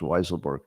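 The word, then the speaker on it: Weisselberg: being told it's pronounced weiselberg you know if that were my name and I had two choices uh which way do you pronounce it wise or weasel I'd go with wise I'd go with wise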